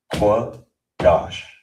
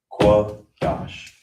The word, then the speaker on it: Qadash: So you it will be pronounced qua dash qua dash.